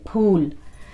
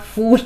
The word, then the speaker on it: Phool: says pool it's p h double o l pool so that's the proper pronunciation of it pool not food food is like the english fool you know